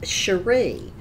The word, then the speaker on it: Cherie: My name is pronounced Cherie, and it's spelled C-H-E-R-I-E.